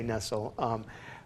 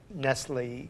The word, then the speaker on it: Nestlé: Henri nestlé german-born so we're pronouncing I'm pronouncing it incorrectly it's Nestle mad Nestle well I'm not sure of the Swiss pronunciation but I say Nestle but born in Germany